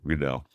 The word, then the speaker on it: Riedel: RLE Redell. The way you want to pronounce it, but it's RLE rhymes with needle.